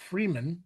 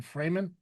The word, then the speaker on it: Fremen: He joins the desert people, the Fremen. Or Fremen? Uh most people pronounce it Fremen. Fremen, okay. But it but it is I think it is literally the free men.